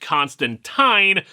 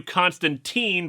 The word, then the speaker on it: Constantine: while we're at it I've been informed that John's name is pronounced Constantine but I might slip into Constantine by accident and not notice plus